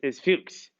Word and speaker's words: Fuchs: reaction so there are some um interesting mispronunciations of pukes that can come up so uh it's fukes so what this reaction is